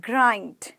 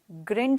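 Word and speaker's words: grind: strike strike मतलब हड़ताल ग्रंड नहीं बोला है हमने आई को ई नहीं बोलना है आई बो आई आई नहीं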